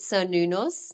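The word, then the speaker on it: Cernunnos: So I pronounce it Sir Nunos, Oh, and Sir I'm like, Nunos.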